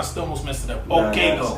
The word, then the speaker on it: Okaigo: Okaigo.